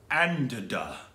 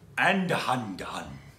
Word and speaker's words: Andhadhun: How would you pronounce Andada? There's an N at the end of hold that. Hold on. Andadhun.